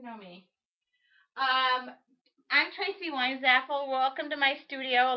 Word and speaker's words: Weinzapfel: me um I'm Tracy wine zappel welcome to my studio a lot of people ask how do I say my last name the p is silent it's Wine's Apple proud of it and